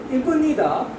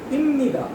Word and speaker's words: 입니다: why the sound of ba will change into ma. So instead of calling it ibnida, we call it imnida.